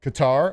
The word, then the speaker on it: Qatar: Um and then Canada takes on Qatar or Cutter however you want to pronounce it. Cutter. It's Cutter and then tonight 8:00 p.m.